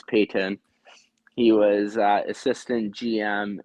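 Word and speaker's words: Paton: Former high up from 2007 to 2020, George Payton, spelled like Patton, P A T O N, but pretty sure if I remember correctly is pronounced as Payton.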